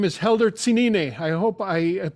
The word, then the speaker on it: Helder Tsinine: is our music for today his name is helder cenini i hope i pronounced your your name all right helder i